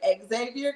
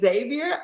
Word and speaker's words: Xavier: the people from Xavier I said their name wrong in the video I said Exavier because I was thinking of the name but is Xavier I know it now